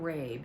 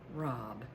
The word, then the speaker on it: rabe: this broccoli rob and it's not rabe it's spelled r-a-b-e but it's pronounced rob so we're going to